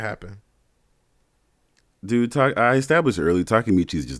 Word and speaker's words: Takemichi: Takemichi.